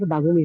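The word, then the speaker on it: warum: what মানে কি বাগুম বাগুম উচ্চারণটা কি বারুম লিখে আসবে বারুম হবে না বাগুমই হবে হ্যাঁ সাধারণত আমরা এটাকে বাহুমও বলতে পারি নরমালি জার্মানরা যখন বলে এটা গলা থেকে বলে আর কি আর টাকে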